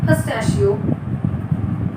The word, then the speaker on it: pistachio: and by offering her pistachio, that is nuts, he had already won a large part of the girl's childish heart. Just be careful with this pronunciation. It's pistachio means almost daily kabuli